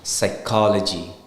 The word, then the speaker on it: psychology: o g y it's psychology psychology right the p is silent there likewise with biscuit biscuit